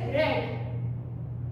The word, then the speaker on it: read: pronunciation should they just read in present tense this poke is read but in past tense we speak as red right so here is